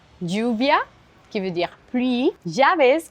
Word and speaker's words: lluvia: En Amérique latine, on a beaucoup tendance à prononcer le double L de la même façon que l'on prononce le Y ou la Y. On peut le retrouver dans des mots comme lluvia, qui veut dire